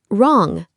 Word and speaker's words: wrong: Wrong, say wrong. Right, say right. When W comes before R, don't pronounce the W.